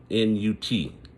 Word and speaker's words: Nut: sky, was known as Nut, and they spell it N-U-T, you know, so almost like nut, but it's Nut, and that represented the air.